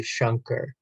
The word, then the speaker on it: Shanker: the correct way um it would more so be shunker so it's like an